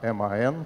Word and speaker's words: MAN: н truck and bass как мне успели объяснить что правильно говорить неман а м а н поэтому я теперь буду